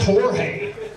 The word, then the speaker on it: Jorge: me yeah turns out he's Mexican said it's pronounced Jorge who knew and know don't you go judge